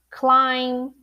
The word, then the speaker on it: climb: Yeah, so the MB in English, every time you have the MB, you're not going to pronounce the B, like climb, plumber, what else?